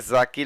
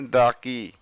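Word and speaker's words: ذكي: এখানে জাকি লেখা আছে, আসলে উচ্চারণ হবে দাকি মানে মেধাবী।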